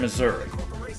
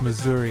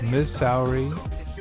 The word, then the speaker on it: Missouri: Did anyone else mispronounce Missouri as Miss Sourri or Misery as a kid?